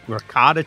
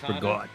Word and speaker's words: ricotta: And we don't Sometimes you don't pronounce the vowel at the end like Yeah. Like we just drop that like like regot like regot for regott ricotta cheese is regott or regotta regott